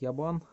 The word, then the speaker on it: UBN: Прикольная цепь от Ябан. Фирма такая UBN, читается как Ябан.